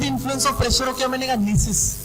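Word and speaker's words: gneiss: Granite क्या था आपका, फर्स्ट क्या है granite, इग्नियस rock, when it went under the influence of pressure क्या बनेगा नीसिस, जी साइलेंट, क्लियर शेल क्या बनेगा चिस्ट।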